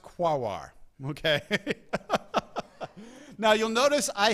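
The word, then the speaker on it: Quaoar: Quoir, Sedna, and Orcus. Okay. Yes, it is pronounced quawar.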